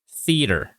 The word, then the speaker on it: theater: Okay, right here, theater. Remember, this is a soft TH or a voiceless TH.